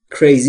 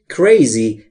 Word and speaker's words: crazy: Crazy یعنی دیوونه. Are you یعنی هستی. Are you crazy؟ مگه دیوونه شدی؟ مگه دیوونه ای؟ دوستان توجه داشته باشید تلفظ crazy. نمیگم crazy. ای نداره اولش. Crazy.